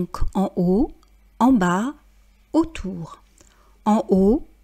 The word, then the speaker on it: en bas: bas, autour, en haut, en bas, autour. Vous remarquerez qu'on ne prononce pas la lettre T de « en haut » et qu'on ne prononce pas le S de « en bas ».